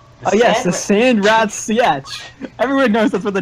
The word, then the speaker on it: Sietch: Pronounced Sietch.